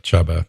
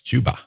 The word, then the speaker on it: Chuba: know i have to it looks like chubba but it's chuba uh four three six